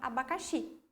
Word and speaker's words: abacaxi: Então, essa é a sílaba tônica da palavra abacaxi, ok?